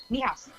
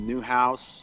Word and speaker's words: Niehaus: Niehaus.